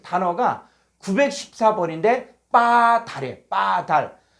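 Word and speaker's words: בָּדַל: 자, 어, 히브리어로 914번은 빠달. 자, 한번 읽어 볼까요? 빠달. 빠달. 예. 여기는 바달이라고 그는데요 바이 아니라 요게 강승. 요게 강승가 붙어. 아, 강승. 요게는 이중점이 붙어서 요게는 비읍인데 쌍 비읍 발음하는 거예요.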